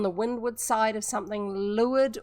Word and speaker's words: leeward: Leeward or leeward, but pronounced leeward, is the away from the wind side.